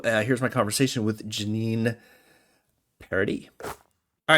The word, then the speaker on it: Paradis: my conversation with Jeannine Paradis. All right, my guest today is the coach of the Biddeford Tigers girls team, and Jeannine Paradis. Did I say that right? Yes, you did. Paradis.